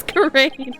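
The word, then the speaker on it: Ga'ran: It's Curren. I've been saying it wrong this whole time.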